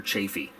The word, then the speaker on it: Chaffee: Do we pronounce that Chaffee or Chafee? Who knows? There is a Chafee County in Colorado, but the man that this actual turret and the tank it belongs to, he's long since passed. So is it Chafee, Chaffee? You know, you'll find it pronounced both ways.